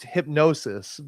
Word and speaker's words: Hipgnosis: Isn't it like Hipgnosis or something? It's called it They It's pronounced Hipgnosis.